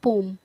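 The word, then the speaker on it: poem: इस पोइट्री में जितनी भी कलेक्शंस होंगी, क्रिएशंस होंगी, आप उन्हें पोएम्स कहेंगे, उनका सही प्रोनाउंसिएशन होता है पोम, लेकिन हम पोएम बोलते आ रहे हैं, तो देखते हैं।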